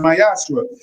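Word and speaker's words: מעשר: 3 8-10 means temp in Hebrew is pronounced myashra 10% of every of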